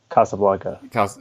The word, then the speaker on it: Casablanca: so today we get casablanca casablanca however you say it i think why actually so you may have found two it is actually from the spanish so i guess we should pronounce it casablanca yeah casablanca yeah yeah